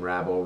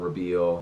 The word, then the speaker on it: Rabil: know how you feel people pronounce my name rabble rabbil ray bill paul if you had